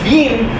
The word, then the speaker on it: Wien: We did consider the idea that the fun of naming her Vienna is that the Austrians spell it Wien. Because Yes. they're That's how they say Wien.